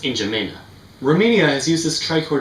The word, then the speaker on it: N'Djamena: It's pronounced N'Djamena.